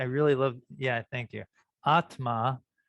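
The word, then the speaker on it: आत्मा: love yeah thank you atma the short a is the long a's okay atma is you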